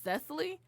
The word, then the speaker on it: Cecily: Cecily you know cuz it's really two syllables with my name but people say it with three it's really Cecily well I could say